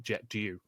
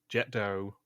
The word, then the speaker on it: Jet d'eau: He pronounced it Jet d'eau. And it is Jet d'eau or fountain.